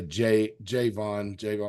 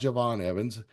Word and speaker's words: Javon Evans: When I see the name spelled like that, I tendency to say Javon, make it hard, but it's pronounced Javon Evans.